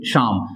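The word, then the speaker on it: psalm: singer did he Singh शाम अब यहां पे शाम पढ़ते हैं यहां पे पी और एल क्या है साइलेंट है ठीक है मैन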